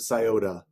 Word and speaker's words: Scioto: It ends in an O, and people pronounce it Scioto.